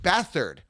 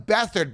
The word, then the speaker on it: Beathard: going here and CJ beathard they're calling him bethard but his last name is beat hard b-e-a-t-h-a-r-d okay let me